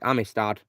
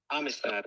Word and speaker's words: Amistad: Amistad? Yeah, it is Amistad. Amistad.